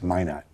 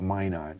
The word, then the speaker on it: Minot: It's Minot. Yeah, Minot, North Dakota. That's the French pronunciation. Yeah. We Americans call it Minot here.